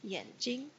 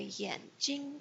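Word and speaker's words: 眼睛: trace is Yin eyes be careful when you say Yin Yin Jing a lot of people read it yeah because it's spelled with an A but remember after a wire and I in pinyin a becomes an ease out Yin so it sounds like Japanese en Yin G and notice the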